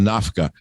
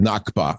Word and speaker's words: Nakba: I almost call it Nafka, but I said Nakba.